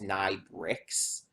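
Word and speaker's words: Nai Br.XX: singing voice of Tuesday, pronounced Nai's name as Nai Bricks, which it's Nai BR /XX or something like that. So it's like, okay, I guess that's pronounced bricks, which I could see.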